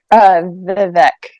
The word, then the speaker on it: Vivek: I don't know if I pronounced it. Vivek. Vivek.